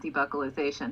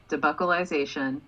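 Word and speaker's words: debuccalization: okay because we had logan is saying stop saying buckle it's not debucalization however i'm looking at the definition right now and that is totally an option debucalization is the first pronunciation given in fact and debucalization is the second pronunciation given and so i just want to point out that buckle is an option for how to say it hey karis it does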